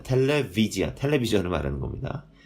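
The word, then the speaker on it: טלוויזיה: 텔레비지아라고 있습니다. 텔레비지아. 자, 텔레비지아. 텔레비전을 말하는 겁니다. 텔레비지아라고 있는데 요 V 발음입니다.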